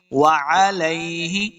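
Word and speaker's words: وَعَلَيْهِ: پڑھنا ہے۔ بے ہی، وعلیہ، واو کو تلفظ کے ساتھ پڑھنا ہے، مخرج کیا ہے آپ کو پہلے بھی بتایا ہے، دونوں ہونٹ گول کرنے ہیں تب واو کا مخرج صحیح ادا ہوگا۔ علیہ، عین کو تلفظ کے ساتھ پڑھنا ہے، لام زبر یا لئی، اس کو لمبا نہیں کریں گے۔ وعلیہ، بغیر لمبا کیے ہوئے بغیر غنہ کے پڑھنا ہے۔ وعلیہ توکلنا، توکل، واو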